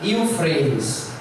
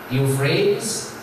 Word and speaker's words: Euphrates: E em inglês se pronuncia Euphrates. Euphrates, em inglês britânico, e Euphrates em inglês britânico e Euphrates em inglês americano.